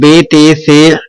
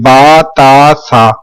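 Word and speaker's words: با تا ثا: تلفظ سے پرہیز کریں، یعنی کہ بے تے سے ہے خے توے زوے وغیرہ ہرگز نہ پڑھیں، بلکہ کیا پڑھیں گے؟ با تا سا۔ میں آپ کو پریکٹیکلی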